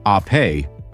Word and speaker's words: ape: This is the Vespa ape, pronounced ae, which means bee in Italian, just as Vespa means wasp.